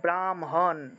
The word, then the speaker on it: ব্রাহ্মণ: তাহলে মনে করেন যে ব্রাহ্মণ আমরা বাংলায় বললে ব্রাহ্মণ কিন্তু সংস্কৃত উচ্চারণ করলে ব্রাহ্মণ অর্থাৎ প্রথমে ম উচ্চারণ হবে তারপরে হ উচ্চারণ হবে ব্রাহ্মণ ব্রাহ্মণ তারপর যে